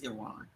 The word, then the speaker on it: Iran: How do you pronounce it? Is it Iran or Iran? It's Iran.